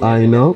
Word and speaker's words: Aina: It's actually Aina, but it was Alina.